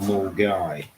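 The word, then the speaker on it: Milngavie: I was in Glasgow at a place called Mulgai. Uh pronounced Mai, it's spelled Mulgari, which is a suburb north of um Glasgow.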